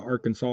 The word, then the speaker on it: Arkansas: looked at the rules up here in AR Arkansas see when I see AR Kansas I want